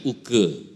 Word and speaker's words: Oeke: OE bacanya U. Nama saya Uke.